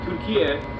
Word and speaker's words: Türkiye: Türkiye is how you say turkey in Turkish, and it has nothing to do with the bird turkeys, actual animal turkey at all.